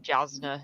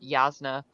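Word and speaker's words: Jasnah: I first read way of Kings I was pronouncing it jasna in my head and then done said yazna and I was like I need to recalibrate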